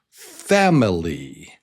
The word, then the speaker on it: family: And this word starts with the stress on the first syllable. Family.